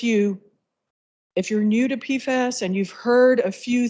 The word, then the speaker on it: PFAS: talk about pfas today I say pfas rhymes with jackass um because there is